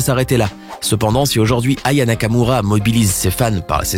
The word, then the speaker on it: Aya Nakamura: de la chanteuse et a même mal prononcé son nom en l'appelant Yaka Nakamura. Voici Yaka Nakamura. Malaise. Comme si cela ne suffisait pas, une autre chanteuse, Lio, va également écorcher son nom en l'appelant Ava Nakamura.